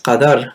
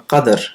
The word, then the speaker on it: Qadr: Laylatul Qadr, either pronounced as Qadr with a fatha or Qadr with a sukoon.